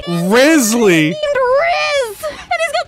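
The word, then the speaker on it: Wriothesley: You guys want to know how you fucking pronounce that shit? Rizzly! Rizzly!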